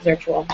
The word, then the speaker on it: Zirtual: It's just Maren, which is spelled like Karen but with an M, at Zirtual, which is spelled like virtual but with a Z.